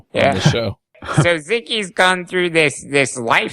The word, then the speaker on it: Xiki: What is Ziki?